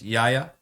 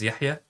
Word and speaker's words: Yahya: on Saturday is well my name is Yaya or if I say it correctly is Yahya and it was a